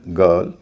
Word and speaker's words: girl: लेकिन अगला consonant are हो तो आई का उच्चारण ई ना होके अ होता है। जैसे BIRD bird, CIRCLE सर्कल, FIRST first, GIRL गर्ल।